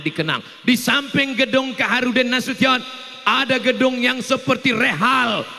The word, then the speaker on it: Nasution: Cara bacanya Nasution. Karena ada orang naik pesawat sampai di airport transit dipanggil namanya orang orang metu. Kenapa dia salah dengar waktu dipanggil Nasu session?